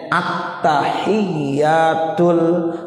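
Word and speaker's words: التحيات: huruf-hurufnya termasuk rukun tauhid jadi bacanya attahiyatul mubarokatus shalawat harus jelas kalau attahiyat dibaca tahiyat nah belum ada tasnya nggak boleh makanya Tolong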